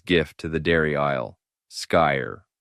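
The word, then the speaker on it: Skyr: Sky, pronounced ski.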